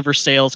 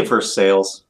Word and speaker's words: Versailles: It's an actual look up the Versailles Castle in Kentucky. It's a real thing, I promise. Did you just say Versailles? Yes, it is Versailles. I know it's spelled. It's supposed to be Versailles, but this is Kentucky.